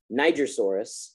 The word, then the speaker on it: Nigersaurus: acrocanthosaurus sauropelta pachycephalosaurus utahraptor nigersaurus pronounced like the country iguanodon carnivore uh ceratosaurus